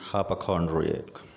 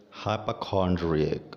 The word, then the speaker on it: hypochondriac: the first word is hypochondriac hypochondriac so there's a schwa sound r4p hi popcorn rig